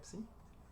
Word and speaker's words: psi: Sea o para cada d divisor de p-1, definimos phi de d, psi de d, perdón, psi de d, se pronuncia psi.